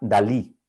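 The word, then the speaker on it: DALL-E: lanzamiento recién de un sistema que se llama dalí en rigor se escribe de él el guión y en atención a dalí salvador dalí igual y de disney cierto y es capaz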